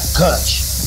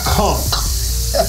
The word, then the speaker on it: conch: conk is spelled c-o-n-c-h that's koch no that's how fat joe said it's not cutch it's cunk c-o-n-c-h and everybody's always